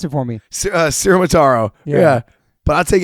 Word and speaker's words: Ciaramitaro: Pronounce it for me. Ciaramitaro.